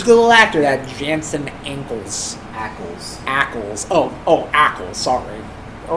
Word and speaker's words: Jensen Ackles: Jason Ackles. Jensen Ackles? Jensen Ackles. Jensen Jensen. You don't have to spell it.